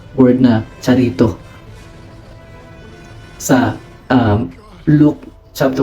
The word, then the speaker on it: charitoo: kanyang word sa Greek ang transliteration niya po ay Charito Charito ang pronunciation niya Ayan Charito So anong kung ano